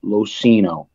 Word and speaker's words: LoCigno: I'll let everybody know my last name is losino the g is silent so that being I